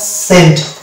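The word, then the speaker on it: scent: এই শব্দটাতে আমরা দেখতে পাচ্ছি এসসিইএনটি, অর্থাৎ সেন্ট, অর্থাৎ এখানে কিন্তু ইসকে বলি না আমরা, বা ইসেন্ট বলি না, এটা হচ্ছে সেন্ট, অর্থাৎ এসের উচ্চারণ আসলো,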